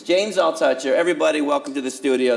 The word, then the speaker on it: James Altucher: go I guess is Jane's I'll touch her correct yes / no I think I've been saying your name wrong for 10 years that I've known you it's James I'll touch your everybody welcome to the